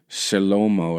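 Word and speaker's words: Shlomo: What it means, Shalomo is how you say it.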